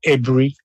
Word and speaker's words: Aburi: But I hope overall we got the idea why Aburi I'm told is pronounced Abri where the Abber accord became a discord.